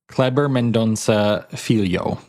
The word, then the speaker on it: Kleber Mendonça Filho: Kleber Mendonça Filho.